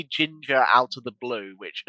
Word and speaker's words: GINGR: Think about how you pronounce it. Right? Have you thought about how you pronounce it? Good. I pronounce it ginger.